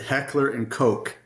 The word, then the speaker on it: Heckler & Koch: This is in the United States of America, we pronounce it Heckler and Koch. Okay. The correct pronunciation in Germany is a lot closer to a word we'd prefer not to say.